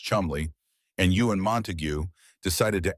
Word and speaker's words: Cholmondeley: That's when two men, Charles Cholmondeley, pronounced Chumley, and Ewen Montagu, decided to actually make it happen.